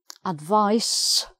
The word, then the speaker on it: advice: gives you a clue advise said sound to advise i need someone to advise me um her advice s sound noun her advice the advice